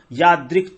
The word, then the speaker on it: यादृक्: तत्क्षेत्रम यच्च यादृक् च, यादृक् आधा का है, यादृक् च यद्विकारी यतश्च